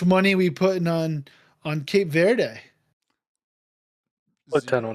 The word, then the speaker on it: Cape Verde: But the one of the other newest countries is it Cape Verde? Is that how it's pronounced? Yep.